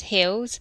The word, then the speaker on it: HILS: So um health and independent living support we pronounce it as hills um was actually founded